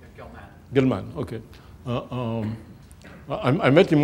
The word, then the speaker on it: Gell-Mann: Gell-Mann, how do you pronounce it? That's right, Gell-Mann.